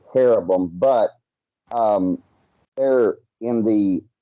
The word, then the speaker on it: cherubim: you know you know cherubim is actually care of them but um there in